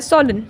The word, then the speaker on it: solemn: इसका प्रोनाउंसिएशन होता है सोलन, ठीक है।